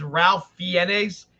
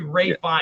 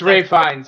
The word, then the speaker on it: Ralph Fiennes: johnny depp so it looks like it says ralph fiennes it's actually ray fine it's ray finds yeah i was like i thought that was